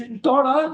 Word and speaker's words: Sintora: I'm gonna get your last name wrong. I'm sorry. You say it. Sintora.